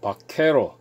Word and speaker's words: Vaquero: 오늘은 루거 바케로, 그러니까 여기 이제 바케로가 스펠링이 V로 시작하거든요. 이게 V로 시작하는데 이걸 갖다가 스페인어에서는 B로 읽는다 그러더라고요. V로 되어 있는데 죄송합니다. 예, 이거 V로 시작되거든요. 이걸 갖다가 V로 시작하는데 그냥 B로 된다 그러더라고요.